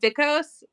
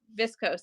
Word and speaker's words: viscose: say what is it is it vicos or is it viscose thank you thank you yes I knew I wasn't saying it right so 75 of that would be viscose at that point which